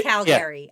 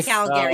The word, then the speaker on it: Calgary: to be calgary it's calgary i say calgary if you're i'm not free if you're from calgary you don't really pronounce the second a if you're if like